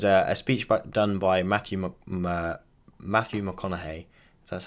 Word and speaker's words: McConaughey: But there was a speech done by Matthew McConaughey.